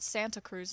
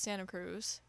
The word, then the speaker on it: Santa Cruz: know I I know I don't pronounce my te's nobody does it's not Santa Cruz it's Santa Cruz Sacramento like you know